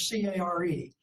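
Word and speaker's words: Kjær: It's German and it's care. So you think of K-J-A-E-R as C-A-R-E.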